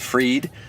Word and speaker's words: Fried: And the last person we're going to hear from, his name is David Fried, even though Fried is spelled fried, F-R-I-E-D, which is funny because David is a nutritionist.